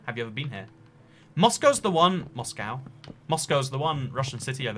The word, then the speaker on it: Moscow: Moscow's the one Russian city I've ever been to. Americans say Moscow and it bugs me.